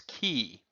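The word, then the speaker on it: 气: Well, we're left with this character without the rice in the middle, and it by itself would be pronounced as ki.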